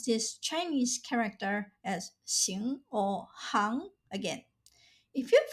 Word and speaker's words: 行: Since it refers to trades or professions, the pronunciation of this Chinese character is hang. Now you'll never have to guess whether to pronounce this Chinese character as xing or hang again.